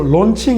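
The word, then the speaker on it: launching: 달아 ing 쓰는 겁니다 근데 런칭이 아니고요 au 라는 말은 영어에서 발음이 o 발음합니다 그래서 론칭 이라고 부르는 게 맞습니다 왜 여러분이 코스라고 할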